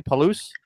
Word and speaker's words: Palouse: a selfie in at a cliff in Washington Palouse is that how it's pronounced County Palouse yes the Palouse River yeah the Palouse Falls